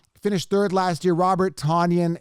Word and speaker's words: Tonyan: number 10 here finished third last year robert tanyan it's he pronounced it tonian i don't see how he gets that but